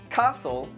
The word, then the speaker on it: castle: Butcher, castle, listen, mortgage, soften, which.